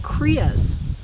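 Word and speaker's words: cria: are they they're called kriyas does it pronounce korea or crya kriya said the voice from beyond who's always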